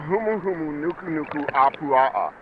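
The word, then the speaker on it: humuhumunukunukuāpuaʻa: It's the humuumu nuku apua.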